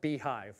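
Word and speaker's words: Beyhive: But we have, this I know is pronounced Beehive.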